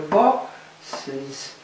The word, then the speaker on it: bosses: Well, the only way to go from here to here, in fact, is to go bosses. And you have to add a syllable so that the plural can be heard.